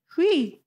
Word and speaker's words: Huey: It would be like hui. In another language, I buy that. Yeah. I feel like his question was in English. I was prepared to try and say Huey with one syllable, but you've nailed it. That's pretty much how it was.